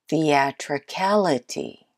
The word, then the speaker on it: theatricality: the actor Cala T theatricality the tray Khalid T theatricality do you have it the most stressed syllable is the fourth syllable that was a hard